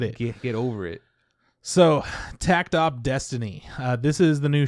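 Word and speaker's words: Takt Op. Destiny: name huh yeah so tactop.destiny i don't you don't pronounce the dot but you just said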